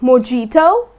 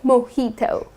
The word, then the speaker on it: mojito: is mojito ok so instead of putting stress on the j like mijito that's incorrect you're gonna say mojito I'll have a glass